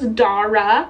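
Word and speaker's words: Darragh: Google to make sure I knew how to pronounce it but that's how I learned his name was Dara d-a-r-r-a-g-h she ended up picking me up the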